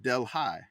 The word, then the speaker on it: Delhi: There's a Delhi, Louisiana, and it's pronounced Delhi.